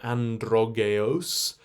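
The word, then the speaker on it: Androgeos: and here he is androgios um in fact it's a long o so androgas and then the main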